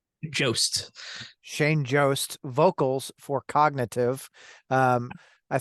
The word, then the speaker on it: Jost: do you say your last name Jo Shane Joost vocals for cognitive um I think recently signed